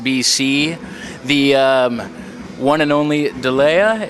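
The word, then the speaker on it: D'Leh: We're here with Steven Strait, the star of 10,000 BC, the one and only Delea. Is that how you pronounce it? Delay. Yeah.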